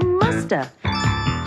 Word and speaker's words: must have: mean must have been we can say in conversation and sometimes we don't pronounce the v and so you hear musta she must have been